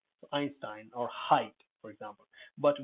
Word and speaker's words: Einstein: in the previous video einstein is coming from the german language and i e i whenever you encounter that think about it if uh think about its german origins or if it's uh possibly from german it'll sound like i so einstein or height